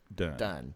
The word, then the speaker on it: Dune: It's Dune and not Done? Done. Yeah, you're right. Okay. It's spelled the same, but I think you're right. It's pronounced Done.